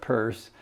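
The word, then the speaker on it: Peirce: here um Charles Sanders purse CS purse and that's p-e-i-r-c-e it's pronounced like a purse you carry around but uh not Pierce but but purse uh 1839 to 1914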